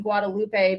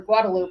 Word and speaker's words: Guadalupe: eyes on six in Guadalupe because I or guadaloop I'm sorry it's guadaloop pronounced guadaloop here in Austin Rebena gotta get used